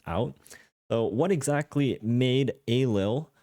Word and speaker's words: Ailil: So what exactly made Ailil or Lil, depending on how you like to pronounce it, what exactly made Ailil